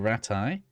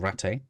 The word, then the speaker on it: Rattay: pillaging our way through Rattay, or Rattay. I think they say Rattay in the game, right? But I say Rattay because that's how it's spelled.